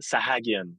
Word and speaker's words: Sahagian: It's pronounced Sahagian. It's not a French name. It's actually an Armenian name.